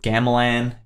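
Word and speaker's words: gamelan: been writing a lot of stuff lately with Gamelin that's how you pronounce it like the Balinese symbol symbols and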